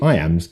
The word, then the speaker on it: iamb: the word i am is pronounced just like the phrase i am now let's expand that